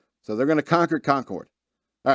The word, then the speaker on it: Concord: count a country while North Carolinians pronounce the second syllable so it rhymes with Bard Concord New Hampshire Massachusetts